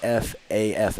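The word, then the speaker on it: Pfaff: shock to anyone uh but yes it's p f a f f but apparently he prefers to be called silent p a little bit of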